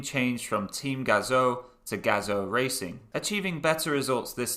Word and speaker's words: Gazoo: up with the name team gazoo pronounced gazo in japanese and in english meaning